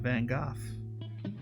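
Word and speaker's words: Van Gogh: Now it's Vinnie boys round Vincent Van Go. And yes, I say it like the 11th doctor said it.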